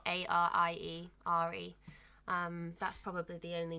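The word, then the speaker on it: Arie: So it's spelled A-R-I-E, Ari.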